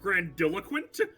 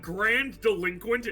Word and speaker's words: grandiloquent: about I think it's supposed to be pronounced grandiloquent but Grand delinquent is so true bestie yeah I kind